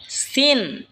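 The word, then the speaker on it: س: এরপর হলো সিন। সিন জিহ্বার আগা সামনের নিচের দুই দাঁতের আগার দিকে লাগা উচ্চারণ হবে সিন।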